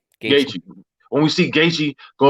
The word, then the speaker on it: Gaethje: The next 5 reviews, they're talking about, oh, what's going to happen when we see, what's his name, Gaethje? Is that how you say his name? Gaethje.